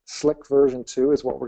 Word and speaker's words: CLiq: here it is um it's pronounced slick slick version two is what